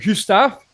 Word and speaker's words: Gustav: your pronunciation is not on point. The pronunciation is like Gustav, but it's quite close. Gustav. I can be pleased with that.